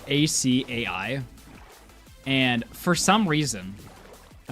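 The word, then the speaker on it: açaí: And for some reason, I don't know why, for some reason, I thought that was pronounced acacia. Um, and I have recently come to the understanding it's spelled it's pronounced asai.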